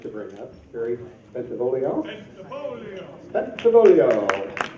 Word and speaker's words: Bentivolio: You got to sing when you say it. Bentivolio.